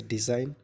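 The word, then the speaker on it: design: next letter है जी जैसे डिजाइन रिजाइन साइन इन तीनों शब्दों में जी साइलेंट है नई डिजाइन का अर्थ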